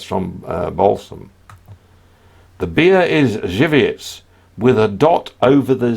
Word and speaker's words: Żywiec: Simon Mazer, the beer that you're talking about is Żywiec, not Suske.